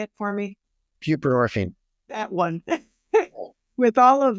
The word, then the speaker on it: buprenorphine: buprenorphine.